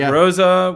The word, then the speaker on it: Rosa: We got Rosa with like the hard Z sound, but it's spelled with R-O-S-A.